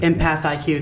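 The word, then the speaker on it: EmpathIQ: Empath IQ.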